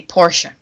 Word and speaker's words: Porsche: I mean, he did go kaboom in the Porsche. Yeah, Porsche. Let's say it correctly, Porsche.